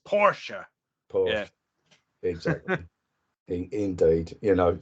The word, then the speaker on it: Porsche: issue the way we pronounce, we call it Porsche, but it's not Porsche, it's Porsche.